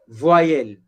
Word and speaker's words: voyelles: Voyelle, S is silent.